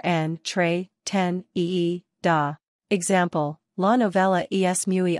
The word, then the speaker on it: entretenida: Pronunciation, en, tre, ten, ee, do, or en, tre, ten, ee, da.